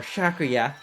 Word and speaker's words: Sakuya: I'm not gonna turn heel, and I'm gonna bite Sakuya, okay? Or Shakuya, as she's pronouncing herself as.